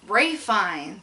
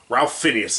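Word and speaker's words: Ralph Fiennes: Ray Fine. Yeah, Ray Fiennes. Yeah. Ralph Phineas is how your name is spelled, asshole. Yeah.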